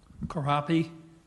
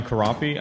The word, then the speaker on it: Corapi: Speaker uh crappie sorry if I mispronounced it thank you sir my name is karapi I am a 35-year